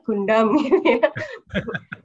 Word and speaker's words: Gundam: leader dari robot Project robot Gang Damai benar membacanya Gundam semoga tidak salah dengan yang lainnya itu adalah